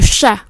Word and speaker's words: chat: Le chat, âm CH này là âm sh, cong lưỡi.